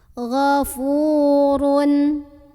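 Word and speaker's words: غَفُورٌ: Fu mad tabi'i karena ada waw sukun sebelumnya dhammah, dibaca panjang fa-nya 2 harokat. Ghafurun. Ra-nya dibunyikan secara tafkhim karena ra berbaris dan barisnya di atas ya, jadi bacanya tebal.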